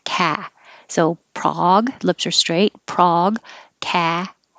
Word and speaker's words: Prague: And we use the same vowel in Prague. Prague.